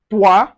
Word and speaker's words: toi: So anywhere you see o i it gives us wa wa sound just like in moi toi and so on and so forth.